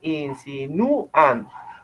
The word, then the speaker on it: insinúan: Ustedes dicen insinúan. ¿Sí? El acento está en esta sílaba.